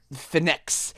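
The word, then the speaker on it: Fenyx: point no no no your main character's name is phoenix but they spell it f-e-n-y-x is that it yeah i i hate it it sounds like phoenix finnex it literally sounds like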